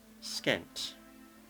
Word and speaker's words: Skent: Now this one, I want to pronounce as Skent, and that's because it comes from an Egyptian sobriquet that describes the dual kingdom.